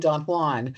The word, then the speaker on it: Don Juan: Jan rhymes with true one. Yes. Yeah. That's how you know it's pronounced because you can't say he is not the true one. I'll take our friend Don Juan that way.